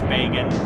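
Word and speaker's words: Bagan: have Megan Megan I think it's Pagan like I think that's how you're supposed to say it with um Japanese pronunciation bacon yeah I I yeah that has crossed my mind basically I had to pick do I make it sound like the word began just said funny or do I say like Pagan so it sounds like bacon there's no way to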